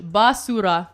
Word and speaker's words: basura: B A S O R A H. Basura. Basura. But like a little bit of the R on the R.